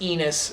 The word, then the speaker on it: Enos: his first name is Enos, which, that's funny. It rhymes with penis, that's funny.